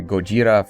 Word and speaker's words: Gojira: why not Godzilla well because the Americans butchered the name and it's actually go jira from japan japanese and now why is